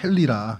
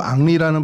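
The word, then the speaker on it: Henry: 때 자기를 도와줬던 친구가 헨리라 이름을 헨리라고 쓰고 축구 선수 생활한다 이런 얘기들이 돌았어요. 그러니까 뭐 말도 안 되는 거죠. 그러니까 불어로 앙리라는 발음을 하는데 그거를 이제 모르는 사람들이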